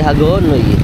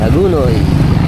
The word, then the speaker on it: Hagonoy: bayan ng hagunoy yan pero ang ano dito eh Hagonoy pero ang pronounce namin dito ay hagunoy aas tayo Let's go